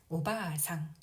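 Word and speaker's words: おばあさん: 바를 보면은 아 모음이 연달아 와서 아 장음으로 발음하면 됩니다. 오바상, 오바상.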